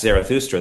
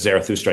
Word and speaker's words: Zarathustra: That's how the Greeks spelled and said the name Zarathustra, which is, I guess, I don't speak the relevant language, but Zarathustra, I guess, is a more authentic pronunciation of what that guy's actual name was. Zoroaster is the Greek appropriation of that name.